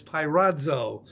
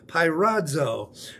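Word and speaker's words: πειράζω: It's pirazo. It's spelled this way, P-E-I-R-A-D-Z-O, pirazo.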